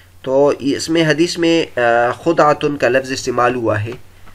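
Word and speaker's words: خدعة: بھی، اور خدعتن بھی۔ امام نووی رحمۃ اللہ علیہ فرماتے کہ اہل لغت کا اتفاق ہے کہ پہلا تلفظ یعنی خاء پر زبر اور دال پر جزم کے ساتھ سب سے زیادہ فصیح ہے، یہاں تک کہ ثعلب کہتے ہیں کہ ہمیں یہ بات پہنچی ہے کہ خود خاتم النبی صلی اللہ علیہ وسلم کا تلفظ یہی تھا۔ البتہ روات حدیث کے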